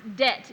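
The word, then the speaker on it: debt: I abhor such fanatical fantasemes, such insociable companions, such wreckers of orthography, as to speak doubt when he should say doubt, dead when he should pronounce det, D-E-B-T, not D-E-T.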